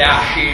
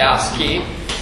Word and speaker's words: ASCII: oggi, potrebbe essere l'ASCII, non si dice ASCII, ma si dice ASCII.